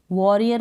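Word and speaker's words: warrior: का मतलब है योद्धा, तो आप प्रोनाउंस करें वॉ, डब्ल्यू ए, यानी डब्ल्यू को व, ए का हो गया ओ, डबल आर को र, आई को छोटी ई के रूप में और अर हो गया ये, वॉरियर पढ़ दें आप इसको, वॉरियर या फिर वॉरियर अ भी बोल सकते हैं, ठीक है, करेक्ट होगा।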